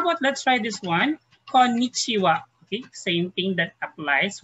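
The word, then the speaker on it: こんにちは: Konnichiwa. Okay, same thing that applies with this rule. So konnichiwa, it means hello. Hi, yoko dekemashita. So we have konnichi. Okay, konnichiwa. Okay, but we pronounce it as wa.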